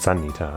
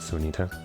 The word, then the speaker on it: Sanita: So it's pronounced Sanita after all, not Sunita.